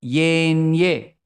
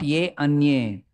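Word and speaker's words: येऽन्ये: All of you say Yenye. Not Ye Anye. When you combine, Yenye.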